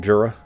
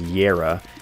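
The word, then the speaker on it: Jera: We got that Jura. We got that Jura. Yes. Anyone who tells you to pronounce it as Yera is obviously crazy.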